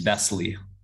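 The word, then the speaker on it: Besley: what's your last name by the way it's bestly how do you spell it b as in boy e-s-l-e-y okay it's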